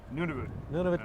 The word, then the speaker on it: Nunavut: How do you say that? Nunavut? Nunavut, Canada.